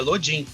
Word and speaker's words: Lodin: E aí a gente olhou lá e falou, não, é Lodin, né?